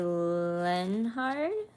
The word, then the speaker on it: Lenhard: Lenhard? Do I have that correctly? Nice picture, I guess. Thank you. A soul sister could be of significance here. No, the H is silent. Leonard.